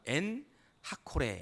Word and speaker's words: 엔학고레: 엔학고레 라고 기록하고 있습니다 정확하게 말하면 n 타코 레 라고 읽어야 되는 건데 오늘 우리가 성경은 엔학고레 이렇게 프리미어 포기를 했지요